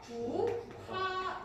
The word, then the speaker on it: 국화: 둘이 만나서 히읗인 거센 소리로 변하니까 얘는 발음하면 어떻게 돼? 국화 이렇게 변하는 거예요.